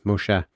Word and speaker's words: Moshe: Moshe. Moshe. Sorry. I was using the Greek I pronunciation.